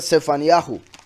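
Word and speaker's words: צפניהו: El nombre de Sofonías, el profeta Sofonías, en realidad se pronuncia Sefaniyahu.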